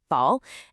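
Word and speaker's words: 抱: The pronunciation is very close, bao, and the logic is just beautiful.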